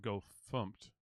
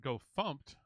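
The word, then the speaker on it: gofumpt: you all heard of go thumped go fmt which is the official go formatter command uh but go thumped spelled with uh f-u-m-t instead of fmt is a stricter formatter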